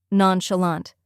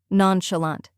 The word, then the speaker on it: nonchalant: like sha in shut then comes lant which rhymes with font and is stressed now let's put it all together nonchalant try repeating after me nonchalant now a little faster